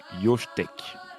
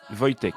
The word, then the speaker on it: Wojtek: Mais oui, il y en a eu un, c'est l'ours, alors désolé pour la prononciation, Yoshtek. C'est polonais. Ok. C'est Il Wojtek, je s'agit crois. d'un Wojtek. Wojtek.